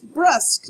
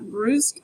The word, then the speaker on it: brusque: And I'm like, oh, it's brusque, not brusque.